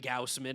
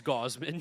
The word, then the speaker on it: Gausman: You've been saying Kevin Gausman, it's Gauman.